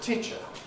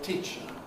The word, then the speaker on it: teacher: the question is the vowel, the stressed vowel of teacher. This is supposed to be a long vowel, and yet, in context, here, in the speech of native speakers, certainly of RP and similar accents, and of General American and similar accents, it is pretty short in duration. We don't say teacher with a long vowel, we say teacher.